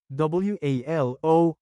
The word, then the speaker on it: walo: WALO is 8 in Tagalog. Change A to AH, then pronounce it as walo.